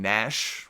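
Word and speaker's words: Knash: A baby boy, I believe, named Nash, with a K, a silent K at the beginning.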